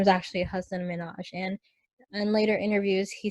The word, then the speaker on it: Hasan Minhaj: correcting the world on how his name is pronounced so I think a lot of the world knew him as Hasan Minhaj and he clarified that his name is actually a husband manoj and and later interviews he said that he